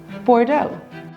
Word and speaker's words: Bordeaux: The X is silent in Bordeaux, and EAU is pronounced O, so it's Bordeaux.